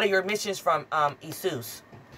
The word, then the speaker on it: Jesus: your missions from um isus you know the J is silent anyway when Judas knew